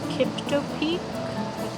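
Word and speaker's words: Kiptopeke: Um, we're going to Kipto Peak, is how you say it.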